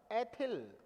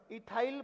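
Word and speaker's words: ethyl: एथिल। क्या बन जाएगा? एथिल। और इंग्लिश में इसे हम इथाइल प्रोनाउंस करेंगे, इथाइल, राइट।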